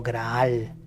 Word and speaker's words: graal: En occitano, grial se pronunciaba como graal, que hacía más referencia a la sangre que a una copa.